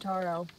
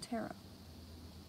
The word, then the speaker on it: taro: when i think tarot i think of cards right tarot cards yeah so that would be wrong right this isn't cards this is a drink so that's why i said taro yeah not tara or tara i don't know wow